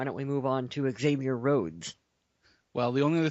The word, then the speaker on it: Xavier: Okay, Xavier Rhodes. We drafted him 25th Xavier overall. Rhodes. So Xavier. It's spelled with an X, pronounced with a Z.